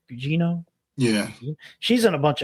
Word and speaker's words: Gugino: Gugino?